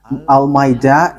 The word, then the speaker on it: Almeida: So, the way you write it, Almeida, is as it is pronounced, Almeida.